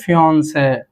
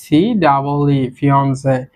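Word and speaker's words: fiancée: উচ্চারণ দুটি সিমিলার হবে, বাট এখানে একটা জিনিস খেয়াল রাখবেন, হবু বউয়ের ক্ষেত্রে ডাবল ই হয়েছে এবং হবু বরের ক্ষেত্রে শুধু ই হয়েছে, ফিয়ন্সে, হবু বর বা হবু বউ।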